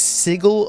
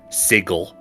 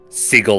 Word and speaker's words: sigil: like official D and people have at different time said that it should be seagull like with a hard G sound but um I like